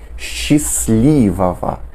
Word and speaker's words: счастливого: A próxima dica é você não pronunciar o T, que vem depois da letra S, né?